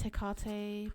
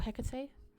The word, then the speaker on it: Hecate: Is Hecate part of that group? Or Hecate? The pronunciation goes both ways.